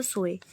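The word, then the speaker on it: soy: आई एम को भी हम सोए ही प्रोनाउंस करते हैं, सोए ही प्रोनाउंस करते हैं हम आई एम को भी।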